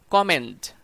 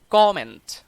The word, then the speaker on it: comment: Example 7, আমরা কথা বলার সময় এই ওয়ার্ডটাকে বলি কমেন্ট। Correct pronunciation comment.